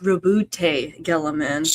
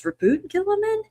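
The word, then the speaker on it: Roboute Guilliman: It's like I've heard I've heard his name pronounced Rabbout Gillaman, but I guess it's Rabboot Gillaman.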